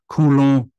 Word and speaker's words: Coulomb: There's this thing called a Coulomb blockade, or some people have a fancy pronunciation, Coulomb blockade, because I believe the guy's French that came up with this.